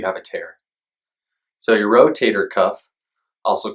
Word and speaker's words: rotator cuff: tell if you have a tear so your rotator cuff also called rotary cup rotor cuff rotator Cup and all sorts of other ways